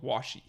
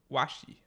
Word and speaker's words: washi: the Japanese pronunciation called Washi oh wasi like I don't know like w like wash and then an eye okay and um yeah